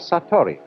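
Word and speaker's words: satori: is in Japanese in Zen it is called sator I'll write that down it's an unfamiliar word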